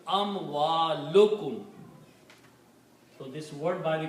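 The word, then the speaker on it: أموالكم: So if we combine these two words, amwalun and kum, then by the combination, one dhamma is not pronounced. So it becomes amwalukum.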